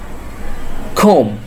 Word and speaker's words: comb: Comb. Comb. Next one, TOMB. B will be silent in here. So the pronunciation is tomb.